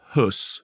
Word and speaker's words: Höss: fine so Christian fredel plays and correct my pronunciation Rudolph hus well is Rudolph H yes because it's it's